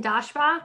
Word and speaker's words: Daschbach: Daschbach.